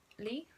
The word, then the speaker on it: Leigh: for the past five days but i am lee yeah but i keep enough money by the way like I think ninety percent of my family thinks think it's pronounced leh but it's really not Lee Lee underscore and